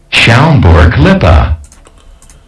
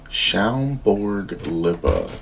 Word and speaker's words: Schaumburg-Lippe: Schaumburg-Lippe. Schaumburg-Lippe. So I definitely would have butchered that.